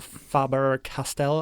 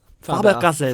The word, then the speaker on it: Faber-Castell: And yeah, we there are, always recommend the Faber-Castell. I can never pronounce it. Is it it's Faber? German, so. Faber. Faber-Castell.